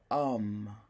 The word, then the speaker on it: homme: to employ vieille, or with an H because the H is silent, right? Like an old man, right? We would say un vieil homme, right?